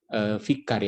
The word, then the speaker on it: vikar: Oke, paus sebagai wakil Kristus di dunia, vikar ya, jadi bacanya vikar bukan vicar ya, vikar Kristus.